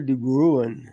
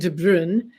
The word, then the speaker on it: de Bruin: I guess if I got this right, de Bruin. Is that close? That's close. It's it's Dutch, so it's it's hard to pronounce. I kept looking up the pronunciation.